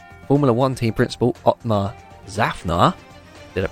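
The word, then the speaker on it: Szafnauer: has announced that formula one team principal opmah zafnar did it pronounced that correctly zaffner yeah yes two for two two for two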